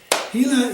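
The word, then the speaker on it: Gila: Hila is spelled G-I-L-A.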